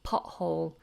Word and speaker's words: pothole: many natives actually miss off that T and say pothole pothole if you drive your